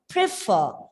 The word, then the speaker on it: prefer: Here, the word prefer is a verb with two syllables, and we have already learned when it is a verb with two syllables, the stress should be given on the second syllable.